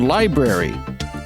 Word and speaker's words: LBRY: Also, we're on a YouTube alternative called Library. That's spelled LBRY.TV. If you go to LBRY.TV and search for at The Bell Howard Show, you'll find us.